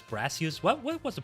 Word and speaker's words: Brassius: It's not Bracius, right? It was Brassius.